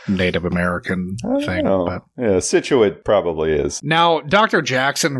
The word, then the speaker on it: Scituate: It's pronounced Scituate, and I know that because I'm from the area.